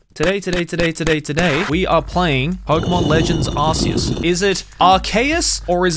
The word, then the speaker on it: Arceus: Today, we are playing Pokémon Legends Arceus. Is it Arceus or is it Arcanus? You see what I did there? Even though I'm fully aware it's actually pronounced Arceus and not Arceus.